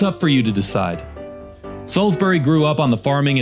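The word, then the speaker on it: Salisbury: It's pronounced Salsbury. Stupid.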